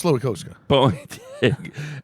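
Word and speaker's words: Slowikowski: It's Slowikowska.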